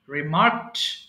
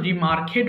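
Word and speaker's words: remarked: লিন হেলান দেওয়া, Lin, leaned, leaned, ফিক তোলা, ফিক, ফিক্ট, ফিক্ট, রিমার্ক মন্তব্য করা, রিমার্ক, রিমার্কড, রিমার্কড। এটা কিন্তু রিমার্কেড হবে না, রিমার্কড, রিমার্কড।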